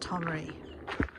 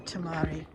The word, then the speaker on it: Tomaree: so for tomorrow tomary I think we agreed that it's pronounced tomary it could be tomari tomary Coes to walk heads towards